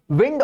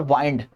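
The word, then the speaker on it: wind: विंड और वाइंड दो pronunciation, दो मतलब। विंड हवा, वाइंड मतलब किस चीज को मोड़ना। वाइंड अप जब हम करते हैं क्लासेस को तो खत्म कर रहे होते हैं।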